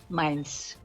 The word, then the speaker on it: Meijns: last name MEIJNS, Minds. That's the pronunciation.